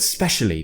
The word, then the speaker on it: especially: we're being lazy and we're actually removing the vowel sound at the beginning of the word because we're talking fast remember native speakers are